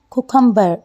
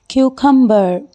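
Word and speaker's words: cucumber: है हमारे पास खीरा खीरे को बहुत लोग मिस प्रोनाउंस करते हैं कुकुंबर लेकिन इसकी ठीक प्रोनंसिएशन है क्यूकर आप मेरे साथ रिपीट कीजिए क्यू कंबर यस यू आर राइट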